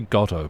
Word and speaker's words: Godot: I'm going to say Godot, because that's how I learned to pronounce the name, the game engine, to actually